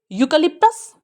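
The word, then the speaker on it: eucalyptus: फिर से देखेंगे, यूकलिप्टस, यूकलिप्टस, यूकलिप्टस, यूकलिप्टस। तो यू जो बड़ा हुआ है 2 डॉट्स है, तो हालांकि सेकेंडरी स्ट्रेस है, जल्दी से बोलेंगे। ली पे स्ट्रेस है, यहाँ रुकेंगे, ठीक है, स्प्रेड नहीं करेंगे क्योंकि स्ट्रेस नहीं है।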